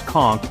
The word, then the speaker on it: conch: This large sea snail, pronounced conchk, is the national food.